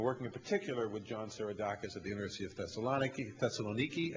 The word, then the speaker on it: Seiradakis: And we're working in particular with John Sirodakis at the University of Thessaloniki, I learned yesterday as a pronunciation, who will provide us with some telescopes